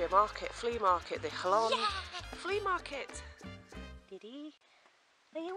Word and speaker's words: Jalón: 7:30 and we are in Jalón, which is spelt like that in the Spanish, but it's pronounced J-A-L-O-N with a silent A, Jalón.